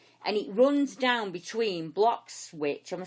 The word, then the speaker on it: Bloxwich: What I can see is a corridor that goes from Cannock Chase, and it runs down between Bloxwich. Am I saying it right, or is it Blockit?